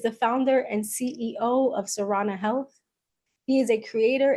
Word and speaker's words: Sarana: Um, so Srana Health, I am pronouncing it correctly, correct?